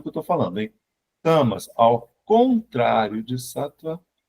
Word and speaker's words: Tamas: Tamas. Tamas. Tamas. Assim mesmo como se escreve.